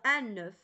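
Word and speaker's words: œuf: الوغ ان نوف كنطقوا هاد الاف، ولكن ملي كتكون في الجمع ما تنطقوش ديك الاف تنقولوا دي زو بلا اف دي زو ماشي دي زوف.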